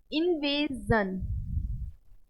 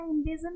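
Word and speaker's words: invasion: बट अगर SION से पहले कोई भी वॉवेल दिया हो इसके पहले, तो इसको जन, जन, जन नहीं है ये, जा बोलेंगे, जन। एग्जाम्पल से समझते हैं। इल्यूजन, okay, इन्वेजन, विजन, confusion.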